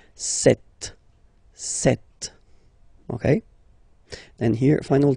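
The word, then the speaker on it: sept: Then here, remember, P is not pronounced. Okay, it doesn't exist. So you got this set sound. Set.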